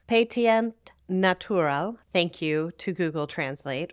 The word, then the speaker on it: Pétillant Naturel: In French, the actual pronunciation is Pétillant Naturel.